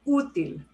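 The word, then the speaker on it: útil: be okay with no accent mark but we pronounce the word util so it has to be written in okay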